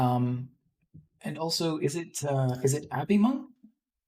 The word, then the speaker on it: abhimonk: Um, and also, is it abhimonk? It's pronounced abhimonk, but you can just call me Abhi.